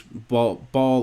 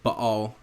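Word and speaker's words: Baal: of the animals fertility if you hear me like this is b ball or ball um either pronunciation fine is part of where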